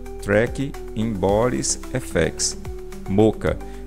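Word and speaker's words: Mocha: Boris effects, Moca, tá? É assim que se pronuncia mesmo, moca, tá?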